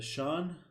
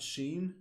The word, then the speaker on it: Sean: It's Sean. Sean. That's how you say it, not Sheen.